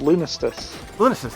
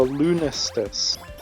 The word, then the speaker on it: Lunistice: the Old Reliable well so I think it's called lunestus that's how you pronounce it well it's similar ironically because we were talking about the solstice the second half of the word is is this the same as Solstice so I assume it's